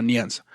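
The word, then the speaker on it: Nyanza: Y los habitantes de ahí le hablaron de un lago que ellos llamaban Nianza, que tal cual significa lago, pero pues en su idioma se pronunciaba Nianza.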